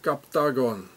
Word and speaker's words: Captagon: So here it says Captagon, it's like octagon, Captagon, it's the same.